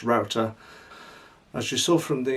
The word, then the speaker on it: Roughtor: a landscape of router it looks like rough tour but it's actually pronounced router as you saw from